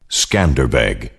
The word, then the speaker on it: Skanderbeg: of five thousand cavalrymen thereafter called iskander bay lord alexander albanian and western pronunciation altered it to the name that the world shall forever know him by skanderbeg in the 1430s the